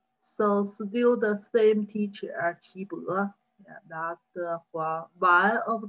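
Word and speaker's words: 岐伯: Huang Di's teacher's name, Qi Bo. Usually we talk about the Qi, full pronunciation, and the Chinese character is different. Yeah. This one is Qi, second pronunciation, and a different Chinese characters.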